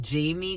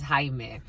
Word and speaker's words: Jaime: And his name, the way he spelled it, it looked like he would get called Jamie quite a bit. He's like, that's not my name though. My name is Jaime.